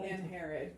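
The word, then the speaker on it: Angharad: Guilford and Angahar. Is that an Herod? An Herod. It's really hard to remember it. Yeah. Nothing is pronounced the way it looks.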